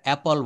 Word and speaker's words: apple: এটা আমাদের গ্রাম্যভাবে কিন্তু আপেল বলা হয়। এটা অপল বলতে হবে।